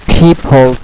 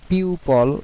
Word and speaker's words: people: used words and uh you should learn the pronunc Pronunciation of the word people not pupil not uh pupil. So uh both pronunciation is not correct. So the correct pronunciation will be people people in Bangladesh and people in the UK and people in China. Okay. Chinese people. Okay. It uh it pronounced like that.